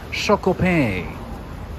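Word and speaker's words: Choc O Pain: Boulangerie Chocopain. That's how you pronounce it. Chocopain.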